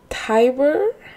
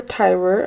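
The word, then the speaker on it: Tiber: was pronouncing the river tber yeah I'm pretty sure it's River Tyber I looked up a video on how to pronounce it I was saying tber but it's Tyber um I've only heard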